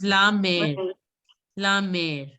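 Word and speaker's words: mère: Left hand, if there's an accent this side, you have to pronounce it as mare. Okay, not mare. It is mare. Anybody can pronounce this? Mare, like it was la mare. Anybody remembers this? Mother, for mother we used to say la mare.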